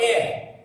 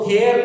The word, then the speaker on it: heir: इस वर्ड को आपको प्रोनाउंस करना है एयर, HEIR। वो हेयर नहीं है, हेयर यानी बाल होता है, उसका स्पेलिंग HAIR होता है, यहाँ पे HEIR, ठीक है, उसको प्रोनाउंस करना है एयर। जैसे AIR का जो प्रोनाउंसिएशन होता है वैसे एयर।